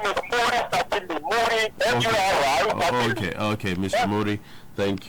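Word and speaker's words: Muri: Mori, M-U-R-I.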